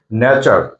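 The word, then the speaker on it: nature: টি যদি থাকে আর টি এর পরে যদি ইউ থাকে তাহলে টি এর উচ্চারণটা হবে সবসময় চ এর মত যেমন ন্যাচার ন্যাচার মানে হচ্ছে প্রকৃতি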